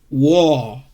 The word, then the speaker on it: war: struggle because you see this A sometimes sound like O, war, okay? War, R one also pronounce.